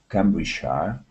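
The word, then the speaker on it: Cambridgeshire: whb Cambridge here actually sheia at the end is a typical place name pronunciation because if I speak about the shers then I use the full word sh like County it's an old form of County it's an old word for County but you still hear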